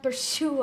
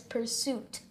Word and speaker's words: pursuit: Pursuit of happiness, not pursue of happiness. Pursuit. Pursuit. Pursuit.